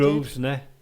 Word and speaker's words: Grosvenor: and we're at the Governor- Grosvenor Ballroom. We are. And Got if it you right. Yeah, it's We did. Grosvenor.